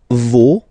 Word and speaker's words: vos: Okay, so remember, even if you've got this final S, you don't pronounce it, as it was the case already for this word, no, you don't pronounce the final S, vos, you don't pronounce it, leur.